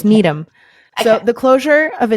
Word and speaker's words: Needham: you got it right oh it's not Needham it's not Needham no it's Needum so the closure of